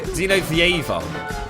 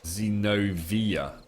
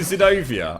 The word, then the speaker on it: Zenovia: It's actually Zenovia. Zenovia. Not Zenovieva. Right, okay, mate. Zenovia. Would you rather I call you Zenobia?